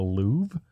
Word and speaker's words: Louvre: I'm looking over your copy and it says Chip was in the Louvre. Yeah, just because the R is silent doesn't mean you don't put it down on paper.